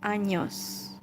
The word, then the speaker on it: años: So that letter has, a different sound. So it's not N, but it's pronounced años.